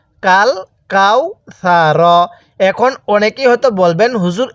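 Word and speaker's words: الْكَوْثَرَ: পড়তে হবে ইন্নাতাইনা এরপরে কাফ লাম জবর কাল এই সাকিনটা লামের উপরে আলিফ এর উপরে না তাহলে কাফ লাম জবর কাল কাফ ওয়াও জবর কাউ কাল কাও ছা জবর ছা র জবর র কাল কাও ছা র কিভাবে পড়বো কাল কাউ ছা এখন অনেকেই হয়তো বলবেন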